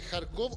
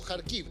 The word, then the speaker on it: Kharkiv: en la ciudad de Kharkov o Kharkiv. Kharkov es la pronunciación en español, Kharkiv es como se dice en ucraniano.